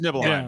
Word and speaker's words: Nibelheim: Like, it's Nibelheim. Yeah. there we go. It's Nibelheim. It's Nibelheim. So that's how you pronounce his Nibelheim.